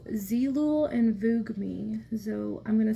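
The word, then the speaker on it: Zeelool: it's a peachy toned concealer uh jennifer it's zeelul and vugami so i'm gonna spell it out for you it's z-e-e-l-o-o-l um and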